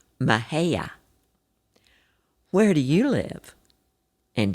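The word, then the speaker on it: Mexia: Of course, the correct pronunciation of where they were is Mahia.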